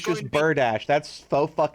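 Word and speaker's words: bardiche: wrong but weapons the bard or something uh bartiche i not in fact pronounce berdachi as i was led to believe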